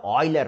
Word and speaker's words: Euler: Swiss scientist Leonard OA actually it is spelled as UL but Oiler so if you go